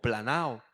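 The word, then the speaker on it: πλανάω: Y esta palabra errar, en su original la palabra se pronuncia en el griego como planao.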